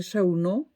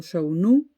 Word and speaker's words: Chaunu: Es más, hay un historiador francés ya fallecido, Pierre Chaunet, no sé cómo se pronuncia, Pierre Chaunot, o Chaunu. En español diríamos Chaunu.